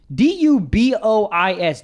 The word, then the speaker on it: Dubois: DUBOIS, Dubois. I'm going to give myself a pat in the back for knowing that it says Dubois, okay? Yeah. Because BOIS, that don't spell it.